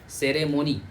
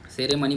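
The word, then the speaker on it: ceremony: वाई सेरेमोनी ठीक है सेरेमनी बोलना बंद कर दो सेरेमोनी होता है अब मेरे को समझ नहीं आता उच्चारण गलत क्यों करते हो उच्चारण तो यही सही है ना भाई सेरे हो गया मोह हो गया नी हो गया सेरेमोनी ये सारे मनी कहां से आ जाएगा?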